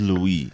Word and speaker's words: Louis: One of our commentators was like, the S is silent. Yeah, I noticed that. I was like, damn, bruh, I kind of messed that up. That's my fault. It is Louis.